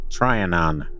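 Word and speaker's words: Trianon: A woman sat sketching on the grass near the triionan. Trian, is that better? That's not That is not better. Tryonan, you got it.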